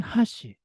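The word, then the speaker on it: 箸: 같은 경우에는 도쿄 방언인데요 화씨를 젓가락의 의미를 나타낼 때는 하시 첫 번째 박을 높게 두 번째 박을 낮게 발음하고요 다리의 의미를 나타낼 때는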